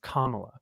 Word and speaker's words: Kamala: And White guys some for of them, Kamala. yeah. Wait, Drew, you didn't say it right. It's Kamala. Okay.